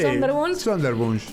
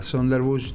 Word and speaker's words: Sonderwunsch: justamente es alemán, pero más o menos se pronuncia así, sí, Sonderwunsch.